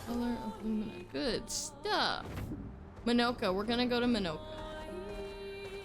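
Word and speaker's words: Monoco: Minoka. We're gonna go to Minoka. I'm glad they told me how to pronounce it because I would have said Monica.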